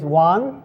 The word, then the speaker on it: Wohn: my name is Juan D one it pronounces exactly as if you count one and I jokingly start